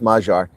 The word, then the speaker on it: Magyar: and the Tories themselves Yeah, I know it's pronounced Magyar, but I say Magyar.